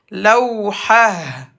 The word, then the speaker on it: لوحة: T fermé se prononce comme Ha. Lawhah.